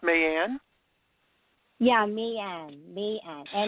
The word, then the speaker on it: May Ann: now for you it's your first name is pronounced man yeah me and me and na ey a